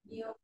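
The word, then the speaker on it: 又: Yêu. Yêu, đọc mạnh như này, yêu.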